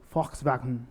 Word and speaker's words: Volkswagen: o carro da Volkswagen Eles não falam Volkswagen mesmo é como foxvagem a a pronúncia Alex